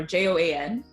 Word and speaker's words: Joan: you in and then put the pronunciation you want on the name tag and and so then I got a name tag that says Joan or jo-ann jo-ann so JOA N and E larva and I was